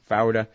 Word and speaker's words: Fouda: to Yosef Fouda from, I'm saying it wrong, Fouda, from Al Jazeera with Ramzi bin al-Sheikh.